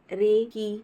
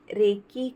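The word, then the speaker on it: 霊気: है सार्वभौमिक जीवन शक्ति हालांकि इसका उचित जापानी उच्चारण रेही है लेकिन इसे पश्चिमी कृत करके रेकी कर दिया गया है रेई का अर्थ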